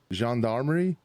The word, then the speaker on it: gendarmerie: As we talked, I am from an Oklahoma ranch, so like being able to say this word, gendarmerie.